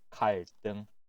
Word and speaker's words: 갈등: 갈등, 갈등. 자, 이 단어도 마찬가지로 두 번째 글자의 드 발음이 뜨 발음으로 바뀌게 돼요. 자, 그럼 주의해서 다시 한번 읽어볼까요?